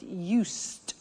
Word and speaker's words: used: listen to the pronunciation I said used with t sound used not used it